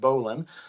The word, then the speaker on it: bowline: There's also something called a bowline. It's actually spelled bowline. But because of ancient history, is pronounced bowline.